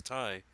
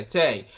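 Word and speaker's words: Tae: yeah I I'm gonna go ahead and say Tay uh you know her the doctor okay and Tay I thought it was Ty okay oh yeah yeah all right sorry it's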